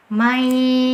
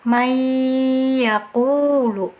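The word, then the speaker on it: من يقول: Jadi cara bacanya yang pertama seperti ini ya, mayyaqulu. Setelah kita masukkan ke huruf ya, ditahan ditahan dulu dengungannya, mai yaqulu.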